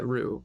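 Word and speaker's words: roux: I didn't know how to pronounce ru. Um, ru Ro. Yeah, Rue. R O U X.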